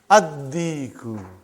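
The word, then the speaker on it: الدِّيكُ: Ad-diku. Why you did not pronounce lam? Because it is sun letter.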